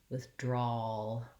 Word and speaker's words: withdrawal: So finish your aw and lift just the tip of your tongue up behind your teeth. All, withdrawal, drawl.